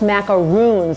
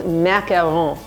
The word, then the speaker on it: macaron: and they're not pronounced macaroons there's only one o in there so it's macaron so practice your French